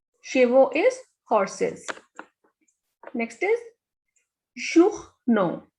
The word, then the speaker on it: journaux: Here we have two vowel combinations. First is O and U, and next is A and U. The pronunciation of O and U is U, and A, U, and with X also the pronunciation is O. So this is journaux.